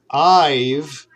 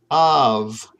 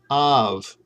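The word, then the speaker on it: ָיו: So this, instead of I've, which is what a lot of my students say, you're going to pronounce this av, okay, av.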